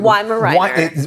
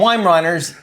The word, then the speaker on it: Weimaraner: Tell me how to say it correctly. Weimaraner. Weimaraner. Weimaraner. Okay, I got it. Yeah, you got it. Very good. I always call them Weimaraners, and I'm way off.